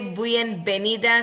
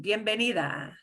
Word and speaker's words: bienvenida: So B's and V's will sound like B.